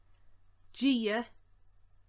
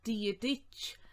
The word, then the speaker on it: dírithe: Now, you've probably heard that pronounced a good few different ways, and that's fine. You might hear people pronounce it something like dírithe, dírithe. Ulster, they tend to say dírithe without the shave on rich. So there's a few different variations in that, and they're all just as good.